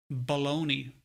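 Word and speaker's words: bologna: Like, fucking hell, baloney. Spelled B-O-L-O-G-N-A.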